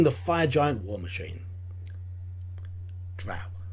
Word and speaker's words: drow: fire giant war machine drow drought rhymes with cow mention the drown nowadays